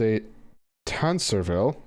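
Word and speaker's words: Tancarville: finding out they're sealed a tan servile apparently is how that's pronounced had a hand on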